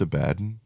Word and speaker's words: Abaddon: Isn't it pronounced Abaddon? Because he's a bad guy.